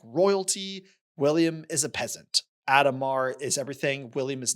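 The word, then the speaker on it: Adhemar: Um, Adomar. Adomar. We said it pretty quickly. Adomar and William are at each other's throats. Adomar is like royalty. William is a peasant. Adomar is everything.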